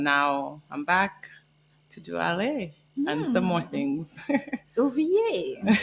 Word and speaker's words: Allez: Allez, this is French.